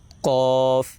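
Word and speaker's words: ق: উচ্চারণটা হবে কফ কফ কফ।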